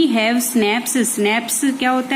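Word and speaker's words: Schnaps: We have स्नैप्स, स्नैप्स क्या होता है, देखो ये CH है, ये साइलेंट रहता है, इसे स्नैप्स बोलते हैं।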